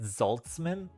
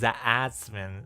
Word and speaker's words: Zatzman: Yeah, so people would pronounce the last name instead of Zatzman, a lot of times you get Zoltzman or Zatman. So like when I was younger, a lot of people would say Zoltzman instead of Zatzman. So I say it's pronounced Zatzman, so you don't mispronounce,